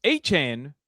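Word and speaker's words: Etienne: I'm very much open to uh being Travis Aan again just uh being myself. I don't have to correct people here on how to say my name. So Travis Etien's name has been Travis Achan THE ENTIRE TIME.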